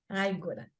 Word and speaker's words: Ágora: pronúncia é em português mesmo, Ágora.